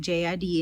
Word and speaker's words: JID: Outkast was inducted, and they did have a tribute that had J.I.D. in it. Jid, that's how you say his name, J.I.D.